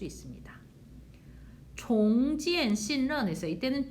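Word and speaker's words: 重建: 종지엔 신런에서 이때는 종, 무겁다의 뜻이 아니라 다시라는 종으로 발음하셔야 돼요.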